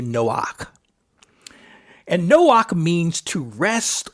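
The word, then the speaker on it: Noach: that from so but we would pronounce it something similar to Noak and Noak means to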